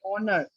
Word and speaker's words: honor: The first letter of the word honor, for example, is a consonant, but it's unpronounced. In spite of its spelling, the word honor begins with a vowel sound.